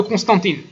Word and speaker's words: Constantin: Et cela resta ainsi jusqu'à l'époque de Constantine. Je vais le prononcer en français plutôt, hein, j'ai du mal. Constantine. Constantin, ceci est resté à l'époque